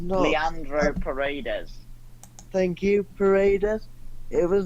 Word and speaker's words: Paredes: I can't pronounce his last name. Pardes. When he was sent off, it was not. Leandro Paredes.